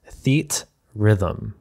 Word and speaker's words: Theatrhythm: This seems like a compound word of theater and rhythm, but if you look at it closely, it's Theatrhythm.